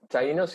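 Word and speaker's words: Taíno: Did I say Taino? Taino's good.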